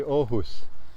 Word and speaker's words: Aarhus: as well like uh this arus to me would be ohus they don't pronounce that R and double A they pronounce